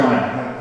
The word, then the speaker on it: Joanna: Is it Joanna or Joanna? How's that pronounced?